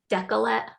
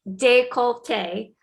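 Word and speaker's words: décolleté: says make your decollete i was saying decollete but i think it's pronounced de colte so make your decollete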